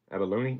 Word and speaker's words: abalone: you go turquoise silver Abalone Abalone Abalone is how you say that onx yeah I know